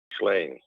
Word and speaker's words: Ghislaine: French G in front of a vowel or in front of an H is a soft G, not a hard G. Ghislaine.